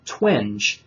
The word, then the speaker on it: Twenge: sure, it's Jean, and the last name is Twenge, Twenge. And then there is another researcher whose name I believe is pronounced Shevnievsky.